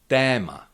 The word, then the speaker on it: téma: Tma that means topic or a theme. Leto that is summer. O is always pronounced uh like O in the English words dot a lot dot lot or o.